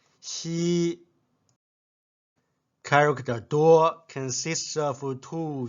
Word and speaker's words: 夕: Repeat after me. Xi, Xi.